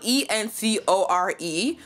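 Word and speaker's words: Oncore: So it's spelled E-N-C-O-R-E, but we're doing on, O-N-C-O-R-E. So we're like, encore, to make it sound cool.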